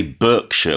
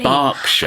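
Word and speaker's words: Berkshire: And in the UK, even though it's spelled B E R K S H I R E, we don't say Burkshire. We say Barkshire.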